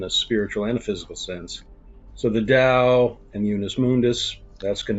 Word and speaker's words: Dao: to talk about the Dao or the Tao. I've heard professors who I took classes on pronounce it with a D, like a soft D, the Dao, and the Unis Mundus.